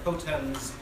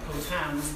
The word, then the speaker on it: Potens: We have the O'Malley Clan Association crest there, and then Terra Marique Potens, not potans, but potens, powerful on land and sea. Potans means drunk.